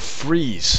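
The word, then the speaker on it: frieze: Chambers what is a freeze how do you how do you pronounce that f r i e z e or Z for our American friends FR it's pronounced freeze it is any decorative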